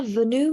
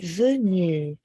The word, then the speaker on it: venu: erreur de prononciation pas venue mais venue ven venu euh c'est le eu eu oui je suis venue venu oui donc le N il y a une liaison entre le N et le U venu alors oui prendre